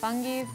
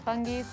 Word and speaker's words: Fungies: These, I think you pronounce this, Fungies. I think it's Fungies.